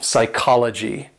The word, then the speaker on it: psychology: Sticking with P's, if you have a P and S together, basically the P is silent.